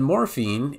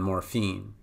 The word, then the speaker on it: morphine: With morphine, it would just be fiend, then morphine, okay?